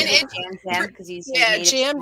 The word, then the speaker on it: Yam Yam: Next up, we've got Yam Yam, who pronounces And it Jam Jam because he's a native Jam Spanish Jam.